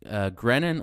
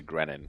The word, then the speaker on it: Grenon: Greno is what I'm most used to, but we're changing it to Grenon because for the kids, no one can pronounce the name correctly. So everyone pronounces it nicely if you switch to Grenon.